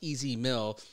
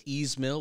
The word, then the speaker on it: Ez Mil: I only learned how to pronounce Easy Mill because someone told us to pronounce that way. Otherwise, I wasn't sure if it was Easemill or Easy Mill, right?